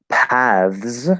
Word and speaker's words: paths: Paths, you can also say paths, right?